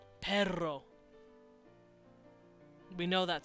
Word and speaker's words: perro: Spanish we know this because it's a Trill and it's on the AL veiler perro we know that sound